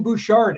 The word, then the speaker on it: Bouchard: going to find on that website is Jen Bouchard. And yes, I did double check with her on the pronunciation of her last name because I didn't want to mess it up.